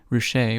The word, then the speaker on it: Ruscha: 50 cents a book richer pronounced r-o-o-s-h-a-y made his photography broadly